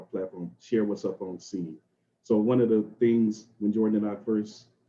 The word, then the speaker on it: Cene: And it is pronounced Cene without the S. So it's not Cene and all of that, but yeah, it is Cene. It's like a play on words, creating your own scene.